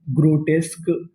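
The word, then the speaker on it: grotesque: क्यू यू ई इसे पढ़ेंगे का ग्रोट टेस्क।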